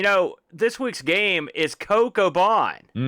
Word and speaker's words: CoCoBan: Do you pronounce it CoCoBan? Is that the way you pronounce it? That's how I've always said it.